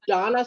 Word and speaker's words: Dana: her and just like her name is Donna spelled Dana and so she gets